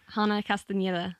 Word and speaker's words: Hana Castañeda: How do you pronounce it? Hana Castañeda. Castañeda.